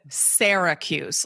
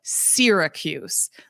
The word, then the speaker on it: Syracuse: Everybody in the world calls it Syracuse, like Sarah. Oh. If you're from Syracuse, you call it Syracuse.